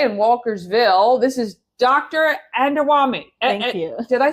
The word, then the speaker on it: Adewunmi: Adewunmi.